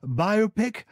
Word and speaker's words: biopic: few more of these biopic do you pronounce that biopic well that's big debate um yes it should be biopic everybody talks about biopics